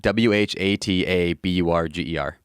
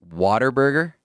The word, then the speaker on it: Whataburger: quick tangent do it how do you pronounce the fast food chain w-h-a-t-a-b-u-r-g-e-r whataburger are you saying water burger i'm saying what i just said whataburger is there an r